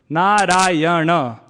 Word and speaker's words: Narayana: It is said that Gajendra called out Narayana, 4 syllables, Narayana.